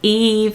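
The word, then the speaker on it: Yves: So you have Eve in France, which is spelled with a Y-V-E-S.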